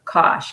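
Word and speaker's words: Koch: a richard kosh groupie you pronounce his name kosh k-o-s-h spelled that way though with a c um he is um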